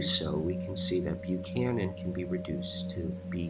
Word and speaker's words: Buchanan: playing with ideas but the CH in Buchanan is not your typical CH ellie's phonetically because the